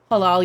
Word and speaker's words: halal: Halal. Yes, that's how you say that. Yeah, it's what it says on the sign. It's halal.